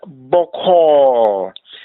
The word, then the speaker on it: boko: And boko. This is optional. Literal meaning is soft. The o at the end is pronounced like o, as in the word rot.